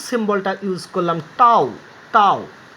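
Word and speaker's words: tau: টাউ সিম্বলটা ইউজ করলাম, টাউ টাউ টি, টির মাথাটা একটু বাঁকিয়েছি, টির বডিটাও একটু বাঁকিয়েছি, উচ্চারণ টাউ, উচ্চারণটা হচ্ছে এরকম টয়ে আকার ও টাউ টাউ।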